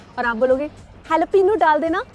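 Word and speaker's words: jalapeño: A lot of people say jalapeno, वो तो गलत है, वो तो आपको भी पता है। बहुत सारे लोग हैलोपेनो भी बोलते हैं, करीब है लेकिन सही नहीं। The right way to say that मिर्च is jalapeno.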